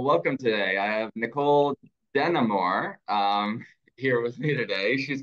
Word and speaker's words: DeNamur: I'll just tell you my last name is pronounced DeNamur. But yeah, joining in from Seattle and just excited to have a chance to share a couple things with your audience. Thank you. Thanks for coming, DeNamur.